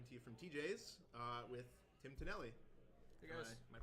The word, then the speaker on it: Tim Tonelli: everybody, I'm coming to you from TJ's with Tim Tonelli. Hey guys. Am I pronouncing that right? Yeah, that is correct. Tim Tonelli.